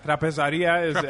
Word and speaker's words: Trapezaria: Yeah, Trapezaria is how you say it in Greek.